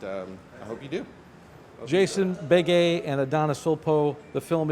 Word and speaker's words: Begue: But if you want to Google me, my name is Jason Bege. That's spelled Begue, and you can Google,